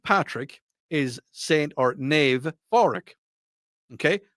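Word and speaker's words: Pádraig: is St or Nave foric okay foric and yes I know it's it sounds like it's with an F but it's with a p p a d d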